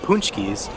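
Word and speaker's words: pączki: they were spelled differently because we always said punch keys but if you look at it looks like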